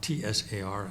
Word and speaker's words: tsar: Ivan III was the first Russian ruler to give himself the title of Tsar, C-Z-A-R or T-S-A-R as it's written but pronounced Tsar.